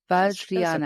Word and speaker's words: Vajrayana: Yeah, I'll have to ask you how to pronounce Vajrayana sometime. Oh, yeah. Is that, did I say, how bad was I? Vajrayana. Okay. It was close enough.